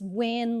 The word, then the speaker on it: Wynn: It's pronounced win like the Bucks will win the championship game, so simply like that.